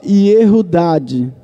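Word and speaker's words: יהודה: Essa seria a pronúncia correta do nome Judas, Iodas. Só que em hebraico se falava Yehudad.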